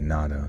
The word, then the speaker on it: natto: Um, we're going to be pronouncing it's pronounced natto. Okay, natto.